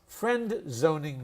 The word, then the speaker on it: friend-zoning: Luke's friendzoning me. Luke's friendzoning me. And again, we would never pronounce that D. We would say whoops, friend. Friend-zoning.